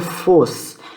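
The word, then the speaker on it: φῶς: o e estão S então a pronúncia é fosse na transliteração você tem um PH tá porque isso aqui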